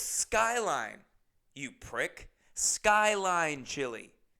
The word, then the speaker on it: Skyline Chili: course in the video I mispronounced everything and I called it Starlight Chile or something like that. And the amount of comments of people going, "It's Skyline, you prick.